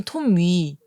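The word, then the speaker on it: Tommy: 토미. 그냥 토미. 토미. T-O-M-M-Y. 어. 토미. 근데 발음이 톰위인 거예요.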